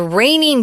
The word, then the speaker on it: reigning: an athlete is the reigning Champion if you ever hear that phrase know that we're not saying rain like water coming from the sky it's pronounced the same way but it's spelled re